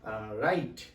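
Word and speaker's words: write: जैसे कि राइट, राइट means होता है लिखना। यहाँ पे W का प्रोनाउंसिएशन नहीं करना है, लेकिन आपको रिटन वर्क में ध्यान रखना है, उस चीज को मेंशन रखना है।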